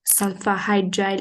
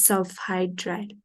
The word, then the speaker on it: sulfhydryl: It's not sulfahydryl, it's sulfhydryl.